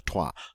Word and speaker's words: trois: And get that R in there on the trois.